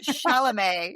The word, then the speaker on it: Chalamet: But then to go to Timothée Chalamet, I don't get it. Okay, that's all I can call him because I actually really don't know how to say his last name. So. Chalamet.